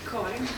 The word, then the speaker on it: Karin: Karin.